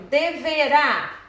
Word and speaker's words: deverá: Por exemplo, deverá, a última sílaba tem o acento lá e é a mais forte, né?